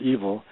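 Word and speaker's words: yfel: yes but the word evil don't forget it's comes from the Anglo-Saxon word YF e l which happens to be pronounced evil the same way and it's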